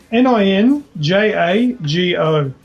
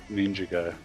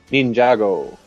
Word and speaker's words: Ninjago: and Sean I'll get your input for Sean n i n j a g o how do you pronounce it ninjo ninjo yeah now that's what I pronounced it